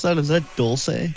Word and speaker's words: Dulce: How do you pronounce that? Is that Dulce? Dulce, yep.